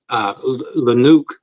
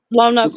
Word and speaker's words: Lonoke: So my question on this situation is why I can't even pronounce the name of the city, Lanook, Arkansas. Oh, Lonoke County.